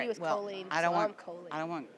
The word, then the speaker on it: Colleen: It's Colleen, like Jolene with a C. Oh, okay. Yeah, my grandma was very adamant about it. All right. She was Colleen, I'm Colleen.